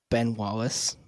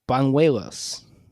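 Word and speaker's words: Bañuelos: I'm going to look up what baseball reference says for the actual pronunciation because there's definitely not Ben Wallace. Ben Wallace. I thought I wrote it down. It's Banuelos. Banuelos.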